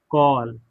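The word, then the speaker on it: call: Sorry काल पढ़ेंगे या कॉल पढ़ेंगे? तो कॉल ये बहुत सारे लोग काल बोलते हैं। काल यह गलत है। ठीक है ना? काल नहीं होता। कॉल होता है।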